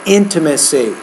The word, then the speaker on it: intimacy: final word is intimacy the stresses on that first syllable intimacy so overall you're reading